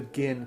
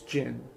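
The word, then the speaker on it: Ginn: i i i'm sorry i cannot go with the gin pronoun it's jin it's jin it's stupid to call him again all the guys all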